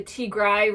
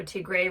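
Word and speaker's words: Tigray: ethiopian government and um the tigrai region or to gray region depending on who pronounces it um uh you know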